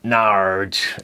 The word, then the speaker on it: Norwich: woodfords brewery based in norwich or nard as they pronounce it with their six